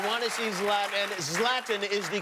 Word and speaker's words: Zlatan: You want to see Zlatan, and Zlatan is the correct pronunciation, yes? Zlatan.